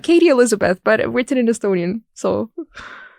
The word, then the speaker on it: Kati Eliisabet: Kati Eliisabet. That's the Estonian pronunciation. Kati Eliisabet, but written in Estonian.